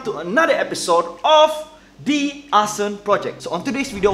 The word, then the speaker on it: Asen: Well, it's pronounced as Asen.